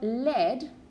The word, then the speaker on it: lead: verb to read but lead what's led it's a material it's an element okay it's bloom lead also rhymes with red in the past okay so here we